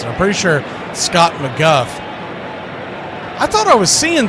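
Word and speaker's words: McGough: We had him before and I can't remember how you pronounce his name cuz it's not how it looks. Scott McGu Gh. I think it's McGuff.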